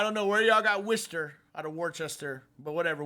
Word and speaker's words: Worcester: Even though it's spelled Worchester, it's pronounced Worcester.